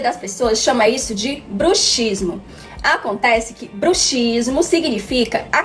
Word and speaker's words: bruxismo: ranir os dentes chama-se bruxismo embora essas duas palavras sejam escritas da mesma maneira ambas com a letra x a pronúncia muda de acordo com o significado então ao nos referirmos